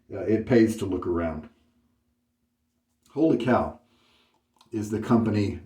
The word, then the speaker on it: Wholly Kaw: of overpay then it pays to look around holy cow is the company name here holy cow it's spelled wooly call but it's pronounced holy cow and uh this is the Sierra base it's